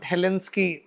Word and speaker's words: Helsinki: It is Helsinki, not Helsinki. Majority of the aspirants have this like mispronunciation with regard to that.